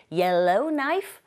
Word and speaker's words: Yellowknife: Yellowknife, 크 사운드 묵음이죠.